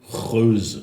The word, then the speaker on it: Geuze: It's Geuze. I think the genuine Flemish pronunciation would be Geuze. Yeah, because I've talked to a friend of mine. He's like, "Oh, you're like the Geuze." I'm like, I don't know what that was. G's in real Flemish are G.